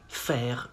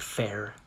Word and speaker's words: faire: You say faire une grimace. Not grimace, not faire. Faire. Une grimace.